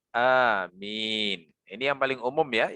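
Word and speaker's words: آمين: Yang pertama adalah dibaca seperti lafaz Yasin. Ya, berarti wazannya fa'il, gitu ya. Yasin berarti bacanya amin.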